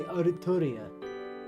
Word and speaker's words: Artoria: Listen to the Japanese pronunciation for it. They quite clearly say Artoria.